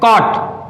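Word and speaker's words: caught: आए, वहां पर जी एच क्या रहता है, साइलेंट रहता है। जैसे कि देखते हैं यहां पर, ये क्या है, कॉट, ये क्या है, कॉट, तो देखो ये क्या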